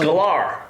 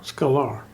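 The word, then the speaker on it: Sklar: a r e squar It's s k l a r got a K in it it's SK L scolar scolar that's how we would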